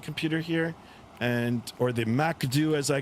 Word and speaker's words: MCDU: here and or the MACD as I call it, the MCDU or I pronounce it Macd M A K D E W.